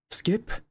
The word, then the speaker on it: SCP: I'm here to tell you about what you call a skip.